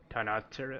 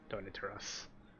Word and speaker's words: Tonitrus: Tonatura? I don't know how to say this. Tonitruss.